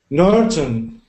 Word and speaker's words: northern: That th sound is made by sticking your tongue out of your mouth like this. Nor. Northern. Northern. Good. Perfect. Northern nor the northern northern. Northern good. And make sure I can hear the R because or else it